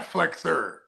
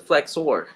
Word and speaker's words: flexor: decoy they got no I like how you say hip flexor because you're really pronouncing the the o r at the end yeah not flexer fle it's not a flexor it's a flexor flexor yeah yeah I